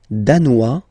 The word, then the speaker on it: danois: Le Danemark, danois, danoise. Okay, insist on that. Danois, don't pronounce the final S. Danoise, here you pronounce it.